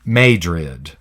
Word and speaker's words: Madrid: famous city but there's a city called Madrid in Missouri but they pronounce it made rid major in fat Prague